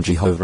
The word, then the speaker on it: Jehovah: as yahu yahu orua since certainty of pronunciation is not now attainable there seems to be no reason for abandoning in English the well-known form Jehovah in favor of some other suggested pronunciation if such a change